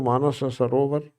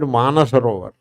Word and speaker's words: Manasarovar: be a pilgrimage to Manasa Sarovar. They call it Manasarovar. One sa they drop. They don't have time to pronounce two sa's energy. So instead of saying Manasa Sarovar, they drop one sa.